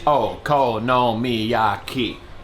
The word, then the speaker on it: Okonomiyaki: moving on to the Okonomiyaki. 6 syllables. Okonomiyaki. 6.